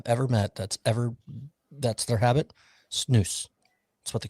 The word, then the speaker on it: snus: Well, what's funny, it says it's pronounced snooze, like the snooze button. The button. How does every it spell? hockey player, every SNUS. Every hockey player I've ever met that's their habit, snooze.